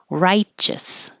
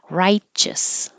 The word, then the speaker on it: righteous: Righteous. Does not look like it, but there's a ch in there. Righteous.